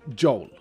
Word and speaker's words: Joel: also a Swedish name, I can say it the Swedish way, which would be Joel. Or Joel. Joel would be the Swedish way of saying it. You see, we don't pronounce J's with a D or J. We say J.